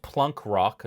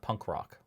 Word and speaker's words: Plunk Rock: great yeah and it's it's pronounced plunk rock not punk rock plunk with a pet